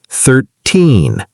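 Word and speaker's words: thirteen: So remember, teen numbers, the stress is at the end. 13, 14. And the 10 numbers, 30, 40, 50, the stress is at the beginning.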